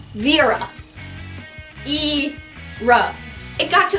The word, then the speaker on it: Vera: it in their heads that my name is pronounced vira II rub it got to the point we